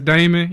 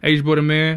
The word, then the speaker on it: Hboydaman: A lot of people mispronounce it as Damon.